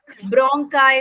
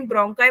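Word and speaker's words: bronchi: Trachea के बाद ब्रोंकाई में जाता है। ब्रोंकाई क्या होता है? कहीं ब्रोंकी बोल देते हैं, कहीं ब्रोंकाई बोल देते हैं, बस स्पेलिंग ये आप लोग दो पाइप हो गए मैम, एक के दो।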